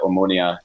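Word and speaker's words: Omonia: meaning to look up their gear uh the ammonia nicosia that's the correct pronunciation because they've got the chamomile crest they've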